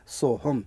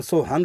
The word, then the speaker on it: सोहम: आधा म हलंत शुद्ध शब्द है सोहम लेकिन सोहंग इसलिए बोला जा रहा है कि उसके बाद फिर हमने दोबारा से सोहम बोल दिया तो वह सो लगने के कारण से उसको हंग उसका उच्चारण हो गया।